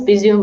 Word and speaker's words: Bisous: Bisous.Suziki, and it's actually pronounced Bisou, and you've done a great job, by the way.